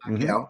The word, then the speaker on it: Macchio: I hope I pronounced this. Macchio. Macchio. Yep. Okay, thank you Just like for the the Karate Kid.